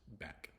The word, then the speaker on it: back: one letter essentially or even if the C is kind of Silent it's just back you don't have to worry about making a sound for the C and K next letter is a